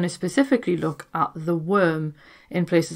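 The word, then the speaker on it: wyrm: to get into so the word worm and it is spelled as in like earthworm comes from the anglo-saxon word worm which is spelled w-y-r-m and this was a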